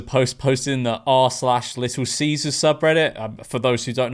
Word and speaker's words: Caesar: Firstly, the first consonant is pronounced with a K and not a S. Caesar.